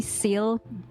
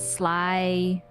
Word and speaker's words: Syl: because it's easier because calling me Sil some people mispronounce it as Sly sty and be like if